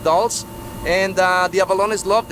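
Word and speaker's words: dulse: is called dolls d as in Diamond u-l-s-e pronounced dolls and uh the avalonis loved it they are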